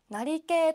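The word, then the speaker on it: 成桂: ことができますなり系と読みますねはいこれも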